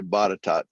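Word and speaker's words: Botetourt: top county they don't know how to say bottitot they'll call it there you go pecking all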